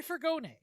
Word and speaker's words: furgone: The Fiat 238 was a van, or as that would be pronounced in Italian, a furgone.